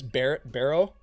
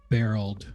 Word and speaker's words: Barreled: But you see, what did you say his name is? Barrow? Barreled. Barreled. Barreled with a B.